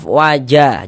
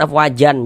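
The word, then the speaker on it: أفواجا: Maka dibaca afwaja, jangan afwajan, jangan afwaja, dibaca dengan panjang 2 harokat.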